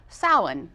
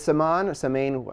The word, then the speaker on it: Samhain: Halloween comes from an ancient pagan festival called, and I hope I say this right, Samhain. Samhain, I think that's how you pronounce it, which actually means summer's end and marks the beginning of winter.